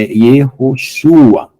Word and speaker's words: Yehoshua: Quando é no começo é Ye, quando é no final é Ye. Então o nome de Jesus, na verdade, é Yehoshua. E a Yeshua é uma abreviação, tá?